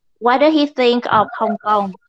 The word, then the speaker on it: Hong Kong: We don't say Hong Kong, it sounds like Vietnamese. We say Hong Kong.